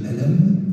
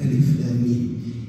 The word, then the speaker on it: Alif Lam Mim: D'ailleurs, le prophète avait corrigé Abu Bakr, un des compagnons, dans sa prononciation, non pas de dire Alam, mais Alif Lam Mim.